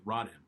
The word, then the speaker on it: Rodham: hammer Rodham he's here like like Dennis Rodman but I said no that's it's gonna be its are odh a.m. so it's rotten rotten right anyway Hillary lovely